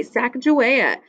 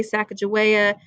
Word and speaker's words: Sacagawea: used duck sirs before and for research okay Sacagawea so she helps them in her husband was